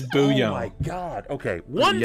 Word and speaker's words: bouillon: Why is it spelled like that? It's French or some shit. It's bouillon.